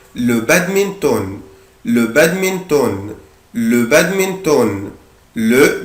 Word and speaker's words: badminton: هنا بنطق حرف ال N اللي في آخر الكلمة عادي خالص جدا. le badminton.